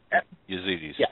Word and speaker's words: Yazidis: I just don't know how to pronounce that. Yazidis, yeah.